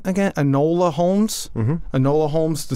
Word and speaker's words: Enola: Enola Holmes?